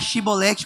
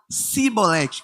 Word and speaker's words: chibolete: significa espiga de cereal Eles não sabiam pronunciar chibolete com ch eles pronunciavam simbolete com s falou cebolete com s era inimigo era amor